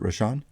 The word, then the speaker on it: Rosch: interview with uh interview tonight which is rashan is that the right way to pronounce it rashan you did very well okay and you pronounce